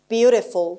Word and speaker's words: beautiful: Beautiful. Beautiful or beautiful. که ت در واقع در American English یکم شبیه د. دی که خیلی اون ته سقف دهانمونه در واقع pretty pretty beautiful beautiful تلفظ میشه خب pretty و beautiful